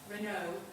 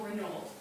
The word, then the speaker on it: Renault: Sweetman, she says it's the pronunciation is completely up to you, which is interesting because it makes it quite liminal whether you pronounce it Renault, as most people do, Yeah. or Renault.